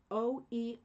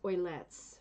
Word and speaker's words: Oeillet: Oeillet. Uh, it's like oil. To me, it's oilets, maybe.